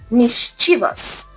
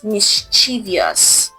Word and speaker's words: mischievous: Here there is no extra I in this word. So it's mischievous not mischievous.